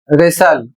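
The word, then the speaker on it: wrestle: अगला शब्द है डब्ल्यू आर ई एस टी एल ई। और इसे पढ़ा जाएगा रेसल और इसकी हिंदी होती है कुश्ती करना।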